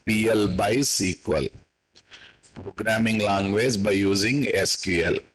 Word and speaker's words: PL/SQL: So that's the ultimate purpose of PL/SQL. Actual pronunciation is PL by SQL.